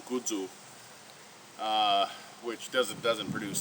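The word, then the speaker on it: kudzu: United States called uh kadu or pronounced in Japanese which is where it's from kudu uh which doesn't doesn't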